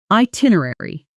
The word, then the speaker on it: itinerary: Notice the pronunciation. I tin uh rare e Four syllables, stress on the second one. Slow. I tin uh rare i. Natural, itinerary.